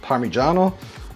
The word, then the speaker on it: Parmigiano: I've heard it very incorrectly called Parmesan. That's just so poor. It's Parmigiano or Parmesan, but Parmesan is a really poor pronunciation.